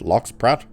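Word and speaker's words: Lox Pratt: Locks Pratt. Well, Pratt is obviously, but I think it's locks is how you pronounce it.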